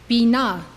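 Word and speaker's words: בינה: This is how they are pronounced. These 9 Sphirot emanate from Keter. Chokhmah, wisdom. Binah, understanding.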